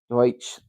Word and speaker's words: Deutsch: Deutsch is how you say it in German.